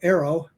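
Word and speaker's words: AARO: The other thing is when she makes a statement like that about arrow, that's how we pronounce the acronym now, arrow.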